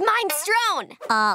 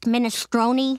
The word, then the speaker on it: minestrone: I get his minestrone. Lenny, it's pronounced minestrone.